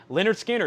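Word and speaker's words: Lynyrd Skynyrd: one of your invoices leonard skinner pronounced leonard skynyrd is a vg coffee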